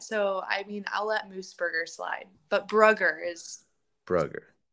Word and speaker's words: Moosbrugger: Today we have with us Freya Moosebrugger.